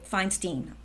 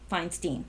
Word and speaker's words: Feinstein: names before but there's Diane Feinstein Oh fine Steen fine Steen we don't want it to rhyme with Einstein okay let's um go